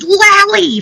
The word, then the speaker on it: Lallie: It's pronounced Lallie, for crying out loud.